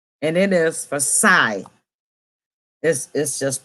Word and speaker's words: psi: and it is for psy this is just pronounced size spell psi the greek word psi but the p is silent it's been outside and